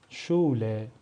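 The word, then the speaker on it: Schule: ترکیب دیگه داریم اسها این سه حرف هم وقتی با هم میان صدای ش میدن مثل شول مثل شول به معنی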